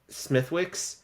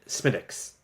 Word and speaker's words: Smithwick: looks like it's um Smithwick but you pronounce it smiix right uh like you don't really say the W so every time I